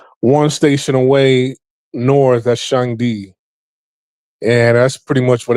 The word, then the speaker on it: Shangdi: I used to live in Shangdi, excuse me. That's how you pronounce it.